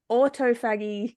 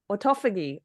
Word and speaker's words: autophagy: official word is model autograph I'm G to pronounce it wrong model autoag no that's not how you say it auto anyway for Mad say it again autophagy I don't know yes yes autophagy autophagy model autophagy disorder there we go that one